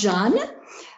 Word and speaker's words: Jean: me I particularly love Jean that's how it's pronounced Jan uh simply because to